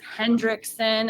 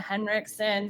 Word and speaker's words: Henriksen: We've gotten everything from Ol to Ul, all kinds of things. Hendrickson instead of Henriksen.